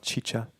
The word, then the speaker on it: XIXA: Okay, so I have a band called XIXA, it's spelled XIXA. Some people call it Chicha.